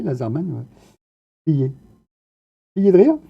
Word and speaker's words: Lazermanne: Ouais, ouais, alors oui, quand j'ai voulu mettre Laserman, j'étais obligé de mettre 2 NE, et bon, on le prononce comme ça, et c'est bien prononcé, Laserman.